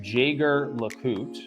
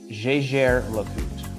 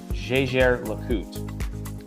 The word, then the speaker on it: Jaeger-LeCoultre: Our next piece and this is actually a manufacturer uh whose name is mispronounced quite a bit. Um so it looks like Jagger Loot uh but it's actually Jer Loot. Jjer Loot.